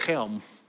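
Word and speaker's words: Chelm: and ukraine helm baptist it's spelled c-h-e-l-m don't ask me how you get helm out of that it sounds like chilm or as they said helm but it was interesting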